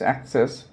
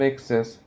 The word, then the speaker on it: access: on your military access the pronunciation is access not excess access is used as